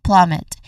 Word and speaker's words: plummet: When it comes to pronunciation, there's two syllables that make up the word plummet. First is plum. It starts with a P sound, then an L sound, so it's a consonant cluster in the beginning, and then it is